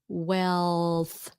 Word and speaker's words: wealth: Wealth.